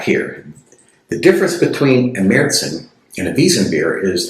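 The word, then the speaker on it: Märzen: And also the Z sound in German is usually a TS type of sound. Meritson and it means March.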